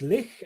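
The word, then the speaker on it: Lech: now all right Josh hit me with some polish pronunciation of people's names right so today we are going to be talking about the brothers lick and your suave Kachinsky these two polish men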